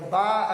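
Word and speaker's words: Bach: Bá, aquele compositor de música erudita, né? Como é a pronúncia? É Bá.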